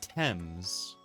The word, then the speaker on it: Thames: It's actually pronounced Thames.